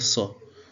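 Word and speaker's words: ص: Tout d'abord, pour la prononcer correctement, nous allons essayer de mettre la langue, ou bien on va essayer de poser la langue sur le palais, c'est-à-dire la couche supérieure qui est au-dessus d'elle. Nous allons mettre la langue là-bas et ensuite on va essayer de dire so, so, so.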